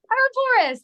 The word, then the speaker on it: Ouroboros: Is it Ouroboros? Is that Try anywhere again. close? Oh, Jesus. Ouroboros? Ouroboros, there you Ouroboros.